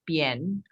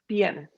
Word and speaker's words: Bian: Yeah, and the correct pronunciation is Bian. Bian, sorry.